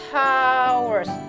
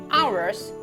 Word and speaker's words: hours: main it two hours masih ada yang mengucapkan haurs Habib memang ada didepannya tapis pada saat Kita mengucapkannya itu tidak diucapkan ini C Ours to do things how